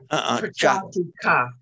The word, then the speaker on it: ca: So he goes gachati ka Cha. Is, remember, the C is always cha. In our system, pronounces the cha. Prachatika. Gachatika. Do you remember the cha? Cha. Cha. Not ka.